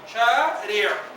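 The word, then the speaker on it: شارع: La última, shari'a. Y la ain es casi muda.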